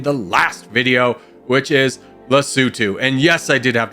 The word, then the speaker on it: Lesotho: requested nation in the last video, which is Lesotho. And yes, I did have to Google that to make sure I pronounced it correctly.